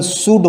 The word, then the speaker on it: should: यहाँ पर L जो है साइलेंट है, इसका प्रोनाउंसिएशन शुड होता है।